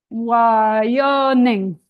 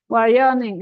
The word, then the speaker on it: Wyoming: Territorio de Wyoming, and then it has to have the stress on the O. Yeah. Wyoming. Territorio de Wyoming. Say Wyoming. Wyoming.